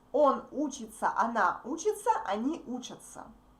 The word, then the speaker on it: учатся: When we speak fast, these verbs sound the same. Он, она учится, они учатся. Can you hear that? Он учится, они учатся. Она учится, они учатся. The same pronunciation. But the third letters are different. Okay? So we write these verbs differently, but we pronounce them absolutely similar. Absolutely the same way.